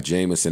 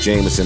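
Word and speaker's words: JMSN: It's pronounced Jameson, or maybe I'm just making that up in my head, but beat was hard, record was hard.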